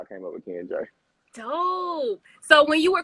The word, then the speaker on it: Jai: And then J is actually pronounced in West Indian, and it stands for victorious.